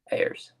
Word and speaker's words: Ayres: And we have our main guest star here, which is, how do you pronounce his last name? It's Lou Ayres. Ayres.